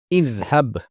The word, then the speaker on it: اذهب: Since it has a fathah on its middle radical, the hamza al-wasl in its imperative form will be pronounced with a kasrah, which is idhab, meaning go.